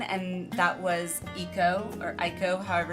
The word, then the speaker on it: Eiko: a kindred spirit in 9, and that was Eiko, however it's pronounced. E-I-K-O.